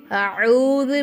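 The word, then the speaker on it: أعوذ: சரிங்களாமா first என்ன செய்றீங்க அவுது பில்லாஹி மினஷைத்தானிர் ரஜீம் அதை முதல்ல கரெக்டா உச்சரிக்க கத்துக்கோங்க இன்ஷா அல்லாஹ் ஃபர்ஸ்ட் அ ரெண்டாவதா ஐன் இருக்கும் அவுது பில்லாஹி மின ஷைத்தான் ரஜீம்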